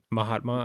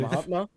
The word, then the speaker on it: Mahatma: So this is don't want to pronounce his name wrong. Gandhi. How do you say his first name? Mahatma, I believe. Mahatma?